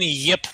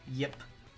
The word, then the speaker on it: Ip: Mandarin or Cantonese, but the pronunciation that I heard was Yip, short Y, but Yip.